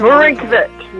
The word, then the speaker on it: Marinkovic: My guest on the show is, I hope I'm going to pronounce his last name correctly, Marinkovic. Is that Marinkovic? There we go.